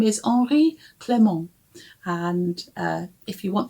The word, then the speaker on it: Henri: In the book, he is called Henri, or Henry maybe, but I think it's French. I think it's the French pronunciation.